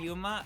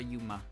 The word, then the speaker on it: Yuma: like I do like putting emphasis on the U. I do call her Yuma. I do call her Yuma. It's just it's like it's I'm not pronouncing it wrong per se, but it's just the the annunciation I'm giving it is all.